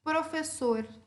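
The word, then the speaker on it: profesor: Professor. Certo? Qual é a sílaba tônica? Sor, certo? Professor. O sor é a minha sílaba tônica.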